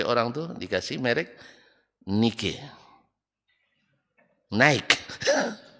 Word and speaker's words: Nike: tuh dikasih merek Nike naik Nah kalau Nike maur harganya tapi kalau naik mahal beda bacanya aja kalau dibaca nikih masih Orang Indonesia itu agak